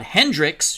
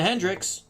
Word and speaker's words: Hendricks: That'll bring up the catcher, Elrod Hendricks, who I continually don't pronounce the S with his last name for some reason.